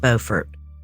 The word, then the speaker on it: Beaufort: am she was connected to an operator from Beaufort County Central Communications side note it is pronounced Beaufort this is North Carolina not South Carolina so